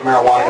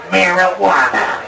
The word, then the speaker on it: marijuana: the Mexicans in their marijuana marijuana it even sound it's got a j but you say it like a w it's foreign it's scary